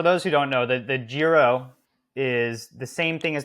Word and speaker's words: Giro: And then last question, which is kind of 2-part, is which race is your favorite, the TDF, or I'm probably going to mispronounce this, Gyro? The Giro. Giro.